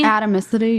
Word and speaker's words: atomicity: And they're acid compliant, which means I don't know how to pronounce this, but atomicity. Atomicity. Yeah, atomicity. It's like atom with anity.